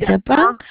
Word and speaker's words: Japan: In Japan, remember that Japan has got stress on the second one.